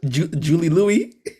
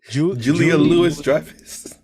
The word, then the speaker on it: Julia Louis-Dreyfus: Julie Louis? Julia Louis-Dreyfus.